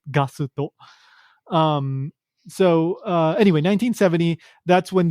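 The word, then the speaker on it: ガスト: In Japanese, it's pronounced Gasuto.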